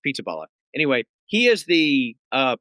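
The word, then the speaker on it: Pizzaballa: I'm not even sure if that's how you pronounce it, but it is P I Z B A L L A. So it's Pizzala.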